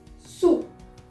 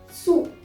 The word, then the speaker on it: sous: Many people have a misconception that sous or sur is similar or it is pronounced similarly, but no, mind it, it's sur, sur, and it is sous, sous.